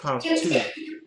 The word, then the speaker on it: partout: Okay, there's no partout. It's just partout. Partout. The T is silent.